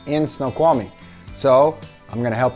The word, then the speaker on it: Snoqualmie: often about life in Snoqualmie let's get right to it first up how do you pronounce snow yes Snoqualmie Snow qualm meat there you go easy as pie Snoqualmie is that the